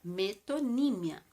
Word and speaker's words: metonímia: conhecida é a metonímia atenção é assim que se pronuncia metonímia Em que consiste em